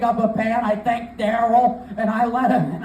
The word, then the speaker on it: Daryl: actually his name Daryl you have to say it like that it's an accent thing Daryl I am in he